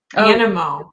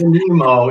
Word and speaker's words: Animo: Animo. Animo. There you go. That is correct. It's the Animo. Animo. I've got it down. Not Nemo, it's Animo. Not Nemo.